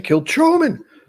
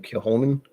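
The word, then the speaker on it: Kilchoman: all things uh kill i always want to say kill truman but kill him kill holmen is that what it is i think is the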